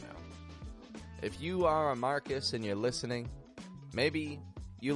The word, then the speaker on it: Marcus: r c u s Marcus repeat that back to me now when we pronounce that a little bit quicker it's not quite marus but Marcus Marcus now this name does